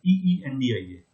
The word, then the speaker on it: India: How does it sounds like? E. Does it sounds like I? Do we say India or we say India? EENDIA. India. Yes, absolutely right.